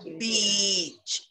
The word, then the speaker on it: beach: an insult right so beach make it a long one or even listen to